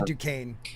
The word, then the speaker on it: Duquesne: yeah i went to duquesne they they won't admit it but i did go i did go they spell that really weird by the way duquesne yes yeah duquesne yes